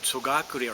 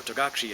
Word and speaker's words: Togakure: For Togakure, or Togakushi as you would call it, the innermost shimpi, they call it, the holy object, is the door, supposedly, that she used to try to hide. So, being a door that was used to hide, to is door, gakure is the way of pronouncing it, Togakure, door that is